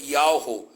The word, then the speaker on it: Yahweh: E aqui você tem o nome do Deus tirado do tetagrama Yud-Heh-Vav-Heh, que a pronúncia seria Yahweh.